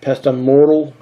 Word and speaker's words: pestle: I've got a pestle and mortar. That's how you pronounce that, okay?